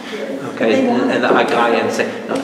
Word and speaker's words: Aegean: So I do have to gently guide them in their pronunciations. Okay, and the Aegean Sea. No, Aegean Sea.